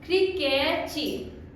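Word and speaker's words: críquete: सो CRIQUETE, क्रिकेची। Pronunciation बदल गया ना, क्रिकेची।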